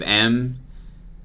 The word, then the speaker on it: em: So the CSS unit that's spelled EM, I will pronounce M from now on.